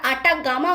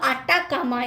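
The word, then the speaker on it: Atacama: দক্ষিণ আমেরিকায় যে মরুভূমি রয়েছে সেটি শুষ্কতম মরুভূমি গোটা পৃথিবীর, সেটি হলো আটাকামা। নামটা ঠিক করে দেখো, অনেকে আমরা আটাগামা উচ্চারণ করি, আটাগামা বলে কিছু হয় না, উত্তরটা হলো আটাকামা।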